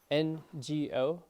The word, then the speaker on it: Ngo: Last name is it's a Vietnamese surname, so Ngo. It's the G's pronounced silent. It's kind of like winds.